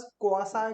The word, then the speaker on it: quasi: सो बहुत से लोग तो प्रोनाउंस करने में कंफ्यूजन कर देते हैं, सो we pronounce it एज क्वासी contract.